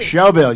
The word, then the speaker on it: Shelbyville: Shelbyville, you said it right, didn't you?